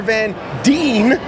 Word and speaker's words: Van Dien: and WTF Nation radio I'm here with Casper Van Dean make sure you say it correctly uh famous